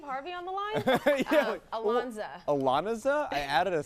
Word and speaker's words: Ilonzeh: As we welcome Torrey, Devito, Annie, Ilonzeh, and Patrick John Flueger from Chicago Med, Fire, and PD, or as I like to call this, Chicago Squares.